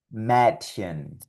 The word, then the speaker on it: Mädchen: Por lo tanto, estas palabras sonarían Mädchen, Käse, Universität.